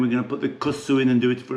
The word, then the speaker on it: kusksu: So in goes the kusksu. And I know I'm not pronouncing that right, guys. It's Steve, it's not kusksu, it's kusksu.